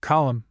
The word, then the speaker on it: column: Though Wednesday we have a number of words ending in mn in which the n is silent. Note the spelling of the following words. Autumn solemn column kil him condemn.